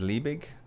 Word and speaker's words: Liebig: put on around r-o-u-n-d bottom um this is pronounced as liebig condenser and everything else i think you understand